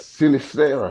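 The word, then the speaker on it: Sinisterra: No, I mean, I what I did see, I think I saw Siniesta. How do you say that? Sinistera.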